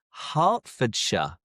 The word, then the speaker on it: Hertfordshire: England end in shia but the shy is pronounced as sha. For example, Worersha, Worersha, Glostershure, Glostershure, Leersha, Leersha, Hertfordshire, Hertfordshire, Barkshire, Barkshire, Warikshire, Warikshire, Bookinghamshire, Bookinghamshire, Shropshire,